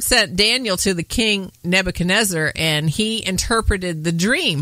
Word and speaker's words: Nebuchadnezzar: may not know about King NE neaker is that how you say it I better read his name Nebuchadnezzar you know you have